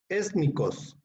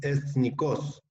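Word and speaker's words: ἐθνικός: sea plural o singular es étnicos que es el adverbio de etnicos perdón Mejor pronunciación es etnicos que significa nacional o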